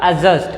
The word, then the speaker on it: adjust: जैसे एक वर्ड है ADJUST, है ना, तो इसको हम लोग क्या पढ़ेंगे, देखिए यहाँ ए और जे के बीच में डी आया है ना, तो डी को कर देंगे साइलेंट। तो इसको हम लोग पढ़ेंगे, इसका करेक्ट प्रोनाउंसिएशन होगा एडजस्ट। क्या होगा, एडजस्ट, नॉट एडजस्ट, समझ रहे बात।